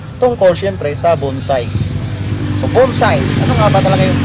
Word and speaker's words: bonsai: So pagka proper pronounce yan guys ay bonside. B o n s a i. Bonsai. Bonside.